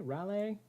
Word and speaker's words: Raleigh: to be going down to I believe you pronounce it as rail a Raleigh here in North Carolina that's close though we